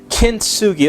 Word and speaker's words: kintsugi: never heard it before it's called kintsugi kinsugi that's right it's not english word it's a japanese word and this japanese word